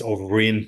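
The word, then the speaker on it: Ó Broin: Brien or or Bron some people you know pronounce it differently but it's overin so it sounds like a V but it's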